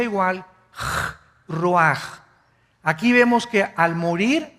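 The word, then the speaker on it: רוח: el versículo 29 y exhaló Isaac cosa el ruaj que se escribe r u a c h ruach en el hebreo y se pronuncia igual ruaj Aquí vemos que al morir dos personas diferentes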